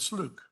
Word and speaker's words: Slook: Not Fluke, but Slook.